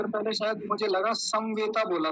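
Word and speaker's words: समवेताः: थ पले मुझे लगा समवेता बोला समवेता समवेता नहीं समवेता म पूरा रखेंगे समवेता जी आचार जी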